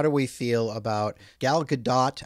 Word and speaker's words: Gadot: How do we feel about Gal Gadot? I believe it is Gadot. I've heard people call her Gadot, but I think the proper Israeli pronunciation is Gadot.